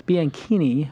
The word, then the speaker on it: Bianchini: It's Bianchini, which is like zucchini.